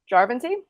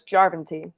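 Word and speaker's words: Järventie: So these Finns, the first one, they got a winger, Emil Jarventie? No, it's Jarventie. Emphasis on the first syllable in Finnish.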